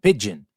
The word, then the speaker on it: pidgin: Well, it is not the bird, it is spelled P-I-D-G-I-N, pigeon.